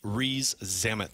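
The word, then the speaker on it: Rees-Zammit: know how to pronounce his name frankly um re zamit is that how you say yeah Louie re Louie ree zamit there you go um he's 23 years old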